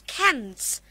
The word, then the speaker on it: cans: Now, if you find nasal sounds before S, then you have to pronounce it as Z.